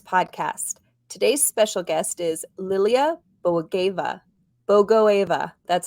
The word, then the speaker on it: Lilia Bogoeva: Today's special guest is Lilia Bogoeva. That's how you pronounce it.